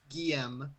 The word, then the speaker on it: Geum: said his name again how the she pronounced it Geum yep you have to you have to pronounce the M I thought I didn't